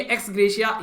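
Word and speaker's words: ex gratia: तो ये एक्स ग्रेशिया याद रखिएगा, ठीक है। तो यहां पर टी साइलेंट होता है, ओके।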